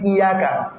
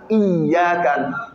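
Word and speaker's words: إياك: Il ne faut pas dire Iyaka. Iyaka, non. Il y a une chose qui est écrite ici, le Ya qu'on appelle Shidda. Ça met une pression dans la prononciation. Iyaka. Iyaka. Avec le signe là, ça montre que le Ya est 2. Le Ya est doublé. Donc ensemble, Iyaka. Ensemble, Iyaka. Pas iyaka, iyaka.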